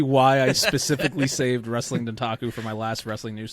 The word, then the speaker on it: Dontaku: Dong Taco. Dong Taco. So I'm going to spell it out for you. Ready? DONTAKU, all one word.